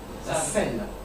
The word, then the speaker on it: selle: But it's pronounced the same way, except it's le selle, la selle. Double L-E.